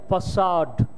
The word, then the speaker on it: facade: the word it is usually mispronounced it is pronounced as facade what is the spelling efi ACA de how